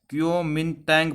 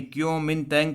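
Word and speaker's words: Kuomintang: जिसका नाम था क्यूनो, देखिए प्रोनाउंस करना थोड़ा मुश्किल है, क्योमिनतैंग पार्टी, क्योमिनतैंग पार्टी, जिसे first nationalist party of China भी कहा जाता है।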